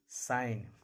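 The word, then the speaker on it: sign: जब किसी वर्ड में जी के बाद एन लगा रहे। जब भी जी के बाद एन रहेगा, जब भी जी के बाद एन रहेगा, जी साइलेंट रहेगा।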